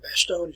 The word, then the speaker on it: Bastogne: You can actually go to Bastogne, or Bastogne as you would pronounce it today.